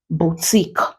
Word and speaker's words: boutique: have it in q letter Q in words can produce the sound example Boutique is pronounced as Boutique he antique you can